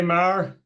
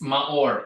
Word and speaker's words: Maor: my thing going hey Mar is that the right way to say your name uh it's a hard name to pronounce huh uh it's maor m a o r ma or ma or okay I